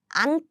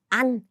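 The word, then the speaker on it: 앉: and next we have an did you hear the pronunciation yes it should be an an you need to use the first consonant and next please use the first consonant too so this first one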